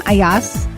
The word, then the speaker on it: Ayaz: Welcome Ayas. Am I pronouncing that right?